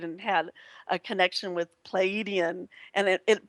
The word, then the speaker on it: Pleiadian: had a connection with pleiadian and it but it's pronounced palladian yeah pleiadian you can kind of drag it out a little bit of depends on this